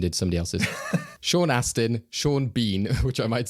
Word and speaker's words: Sean Bean: remember his name, I was like, oh, maybe Sean Benham is one of these random people. But yeah, Sean Bean.